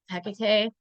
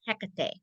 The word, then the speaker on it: Hekate: So you'll hear me go in and out, but I always make sure to like emphasize that middle syllable, the middle syllable for her.